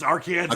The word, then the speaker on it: Arkansas: Okay, and you still pronounce it Arkansas as well, correct? Yeah, it's Arkansas, Okay.